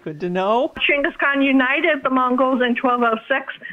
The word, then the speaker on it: Chinggis Khaan: very upset you're saying is actually pronounced Chinggis Khaan good to know Chinggis Khaan United the Mongols and